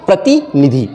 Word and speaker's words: प्रतिनिधि: अब ये देखिए पहला शब्द प्रतिनिधि, प्रतिनिधि, तो इसमें हमें अलग ही समझ में आ रहा है कि सही शब्द का उच्चारण है प्रतिनिधि।